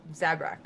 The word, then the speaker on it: Zabrak: Zabrak. Zabrak. Sorry, you're the Zabrak, yeah. And Daya is the Dear. Dia, sorry. Dia is the is the Sarian, yeah? Yeah. Mhm. Conehead. Conehead, basically. yeah. And Zabrak is basically the Darth Maul looking one, so.